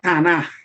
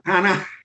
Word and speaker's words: Tanaj: Y miren, en hebreo, y quiero poder pronunciar esta palabra bien, en hebreo, el Antiguo Testamento se llama Tanaj, así con J al final, Tanaj.